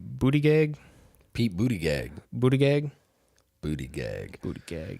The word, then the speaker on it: Buttigieg: Pete, I don't know how to pronounce his last name. Buttigieg.